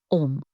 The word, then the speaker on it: Om: Let's take the sound Om. For example, it's not just a syllable, it's a living energy. Om is made up of 3 vibrations, A, U, Ma, which together balances the body, mind, and spirit.